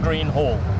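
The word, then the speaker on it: Greenhall: can you just pronounce it for me it's pronounced h a double l green hall green hall okay i'll definitely be getting it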